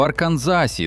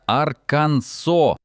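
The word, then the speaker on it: Arkansas: Дев'ятий абсурдний закон діє в Арканзасі, де заборонено неправильно вимовляти назву штату. Офіційною вимовою вважається Аркансо, а не Арканзас, як іноді кажуть туристи.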